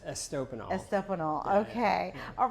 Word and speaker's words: Estopinal: don't want to mess it up it's estol estanol okay all right just tell me a little